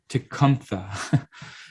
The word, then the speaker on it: Tecumseh: um shinwok did um you know tecumseh or it's actually pronounced tikampha but uh he was